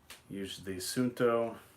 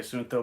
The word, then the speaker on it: Suunto: I'm assuming that it's not like technically just two syllables. It's more like suunto sort of deal. Is it almost as if it's like 2.5 syllables? Does that make sense?